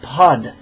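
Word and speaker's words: pad: And it's not pa, but pod. There's you want to pronounce the consonant.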